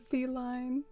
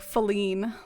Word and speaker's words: feline: more he's obsessed with feline oh i used to say it like falline like that whole feline pun just totally